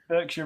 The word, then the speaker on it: Berkshire: No, but Berkshire Renegades is spelled B-E-R-K. So he's saying it's pronounced bark, and he's saying I can't say bark.